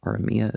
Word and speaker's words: Aramaic: landmarks waste places etc the aramaic aramia is how you really pronounce it uh which jesus